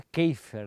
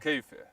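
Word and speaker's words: Kaefer: É a pronúncia certa é Keifer, né? Kefer, mas a se escreve caifer um alemão, né?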